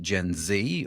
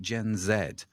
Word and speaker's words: Gen Z: Z or is it Gen Zed uh and no one really knows the answer uh is is is the right answer eventually. So, you'll hear it pronounced both ways here in the UK, but that's another story.